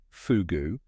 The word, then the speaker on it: fogou: The word itself, fogou, pronounced "foo-goo", comes from the ancient Celtic Cornish language, simply meaning cave.